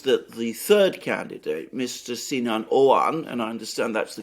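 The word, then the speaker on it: Sinan Oğan: that it seems that the third candidate Mr sinan owan and I understand that's the correct pronunciation of it um the key point to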